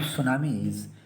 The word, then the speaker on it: tsunami: Spelling of सुनामी इज TSUNAMI, right. यहाँ पर T silent है।